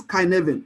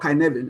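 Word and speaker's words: Cynefin: framework right what is kyen framework I mean it's called kyen I mean sounds like Cy whatever but I mean it's a Welsh word but it's pronounced as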